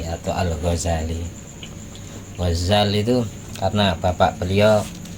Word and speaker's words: Ghazali: Makanya dijuluki Gazzal tukang nenun pakaian dan ada yang bilang tanpah tasdid Ghazali bacanya karena nisbat ke wilayah Huzala yang ada di daerah Tus Iran. Nah, beliau dari sana dari Attusi. Attusi Ghazali kalau jadi sama-sama bisa dibaca tanpa tasdid.